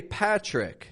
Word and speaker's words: Patrick: The T is not pronounced like a regular T. It comes out more like a ch. So when I'm here in Mexico and I say my name is Patrick, to me it feels kind of forced.